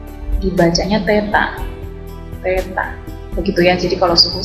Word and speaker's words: theta: Ini tandanya seperti ini, kalau diperbesar dibacanya theta, begitu ya.